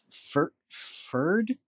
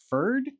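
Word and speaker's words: Pferd: They even tried to learn German from us, in spite of the great difficulty they found in pronouncing some of the words. The word ferd, P-F-E-R-D, ferd, they could not say at all.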